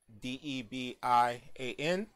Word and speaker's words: Debian: That's how most people pronounce it, Debian.